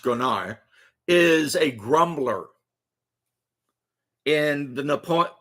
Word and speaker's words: grognard: A Gronar, and that's how it's pronounced, Gronar, is a grumbler.